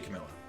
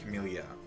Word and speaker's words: Camellia: of these characters play especially camilla um or camilia sorry i always say her name wrong um camellia um i've her story is